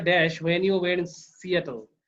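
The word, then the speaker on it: Seattle: ডিড you write the dash when you wire in সিয়াটল। এটার উচ্চারণ কিন্তু সেটল না, সিয়াটল।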